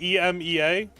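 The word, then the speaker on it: Emz: It's pronounced ema.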